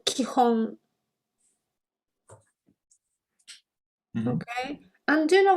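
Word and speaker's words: 基本: And then these 2, yeah, are pronounced kihon.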